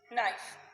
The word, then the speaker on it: knife: Next picture is a picture of fork and knife. So trace here F-O-R-K, fork, A-N-D and K-N-I-F-E, knife. K is silent.